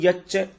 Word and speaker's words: यच्च: तो तत्क्षेत्रम यच्च, देखिए इसको हम प्रोनाउंसिएट कैसे करेंगे, तत्क्षेत्रम यच्च, यच्च, च के ऊपर थोड़ा जोर डालेंगे, 2 च है ना, एक आधा एक बड़ा।